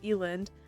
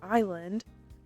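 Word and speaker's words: Eiland: Some people say Eland, others say island. I'm going Eland. I'm joking. I'm going island because apparently that's the popular option.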